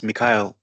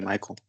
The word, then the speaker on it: Michael: the extra time U my name is miky um it's spelled like Michael you can call me Michael um I I wanted